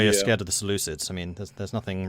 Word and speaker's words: Seleucids: It's actually Seleucids, apparently. No, it's not. There is no Ew. L in the end there. Ew. It's either Seleucid Let's not or start that Seleucid. again.